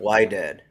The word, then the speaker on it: Wydad: Wydad. Oh, that's how you say it? No, it's Wydad. Sorry. It's with a W.